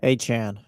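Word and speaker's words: Achane: Achan. It is Achan. Yeah, it's Achan. Oh, I thought he said it was something different. That's good. Well, I think Travis Etienne said his last name is pronounced Achan too.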